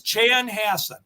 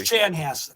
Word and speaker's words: Chanhassen: It's Chan Hass. Chan Hass Minnesota.